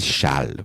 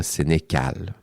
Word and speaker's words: Sénéchal: On dit Chal, pas Sénégcal.